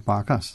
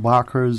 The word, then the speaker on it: Barkas: Now, however you decide to spell it, the pronunciation is Barkas. It's not Barkers, it's not whatever foolishness that we call it.